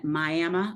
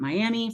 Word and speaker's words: Miami: in shenut um they have family family in miam Oklahoma as we were always told it is not Miami so those of you that are in Southeastern